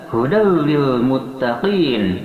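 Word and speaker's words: هُدًى لِلْمُتَّقِينَ: Kemudian hudal lil muttaqin, hudan ada tanwin patah bertemu dengan lam, dia diidghamkan tanpa disertai dengan dengungan, sehingga membacanya hudal lil muttaqin, memasukkan tanwin patah kepada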